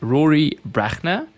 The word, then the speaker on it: Brachner: advice South Africa today I have with me Rory brachner Rory is wonderful to have you here thanks Louis you pronounce it perfectly by the way thank you